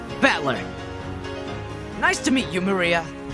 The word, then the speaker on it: Maria: is written like this of course this is pronounced Maria the third character looks like cross which is